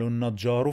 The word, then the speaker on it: النجار: يعملوا يعملوا النجار النجار ان ان لام شمسية لا تنطق ان ان ان حرف النون بيتنطق مرتين ان ان النجا النجا النج